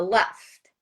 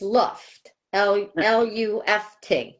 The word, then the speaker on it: Luft: Left, and Uh-huh. when my mother would say his name, I thought she was saying left, and it's Luft, Luft, Mm-hmm.